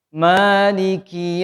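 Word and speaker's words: مالك: Maliki yaumiddin. Maliki yaumiddin. Maliki yaumiddin. Nah, ini Pak. Kayaknya dia hamas Pak ya. Maliki, bukan maliki, tapi maliki. Ada desis sedikit.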